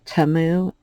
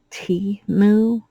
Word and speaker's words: Temu: trouble pronouncing things so I call it TAMU and it was pointed out that it's T moo and I just don't